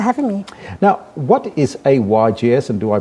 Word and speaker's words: AYGS: thank you for having me now what is a ygs and do i pronounce it correctly or is it ages no